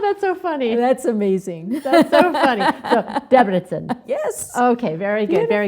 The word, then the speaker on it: Debrecen: in Debrecen Debrecen yeah you know something unusual about the Hungarian language is that the accent is always uh always on the first syllable of the word oh that's that's go matter how many syllables it has like I guess you